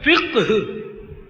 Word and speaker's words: فقہ: علم فقہ جس کو عوام فقہ بولتے ہیں، فقہ غلط تلفظ ہے، فقہ قاف اور ہا دونوں ساکن آئیں گے.